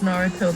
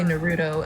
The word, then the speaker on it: Naruto: I'm surprised you're the only one who actually pronounced Naruto the right way, because I swear to God, some people say Naruto, and I'm like, I will hurt you with this crowbar.